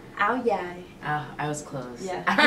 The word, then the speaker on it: Áo dài: About your, in the city, it's andao. How do you pronounce like the actual term for it? Áo dài.